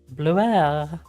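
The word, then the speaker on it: Blaireau: It's French Blair. Blairu. Blairu. Is that what you mean? Blue air. Is that how you say it? Blue air? Blue air. That's a cute name.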